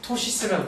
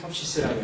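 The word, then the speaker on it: ptosis: 토시스라고 그러죠. 영어로 토시스. 가스릭 토시스. 토시스라고 그러죠. 토시스 이게 묵음이라서 아마 pH 이렇게 되지 않나 싶은데 토시스.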